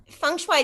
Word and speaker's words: feng shui: more professional um so i took on pronouncing it correctly um feng shui this is actually my